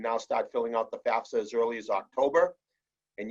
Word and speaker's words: FAFSA: is the term fafsa it's an acronym it stands for free application for federal student aid and it's pronounced fafsa but certainly that's a